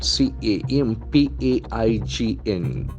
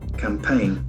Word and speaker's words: campaign: a beautiful letter combination the letter g is silent also it's actually planned group